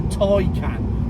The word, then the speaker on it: Taycan: I'm not happy about it being called the Taycan, which apparently is the correct pronunciation. T-A-Y is Tay, G-A-Y is gay, D-A-Y is day. It's not Monday, Tuesday, Wednesday, and it's not gay or guy.